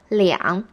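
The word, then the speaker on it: 两: what do you use i would say liangga instead liang is always used when you're describing 2 or something it is like saying a couple of in english r is only used as a number 2 and not for saying 2 or something so you would say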